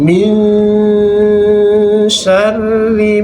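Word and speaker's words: مِن شَرِّ: Yang pertama pada ayat 2, min syarri ma khalaq. Nun matinya kita samarkan, masukkan bunyi shin.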